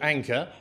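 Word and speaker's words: Anker: and uh it's made by a company called Anor which uh it's spelled a an k r so that also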